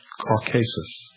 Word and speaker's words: Caucasus: For his disobedience, Prometheus, like Lucifer, was chained and placed upon the brow of Mount Caucasus, or as some pronounce it, Caucasus, there to remain with